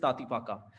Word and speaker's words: Tatipaka: Next, the pronunciation is तातीपाका.